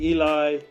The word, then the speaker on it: Ellie: Ellie that's it okay a lot of our American friends call me Eli and you know all kinds of different ways of pronouncing my full name but Ellie is the best way for me personally Ellie okay just want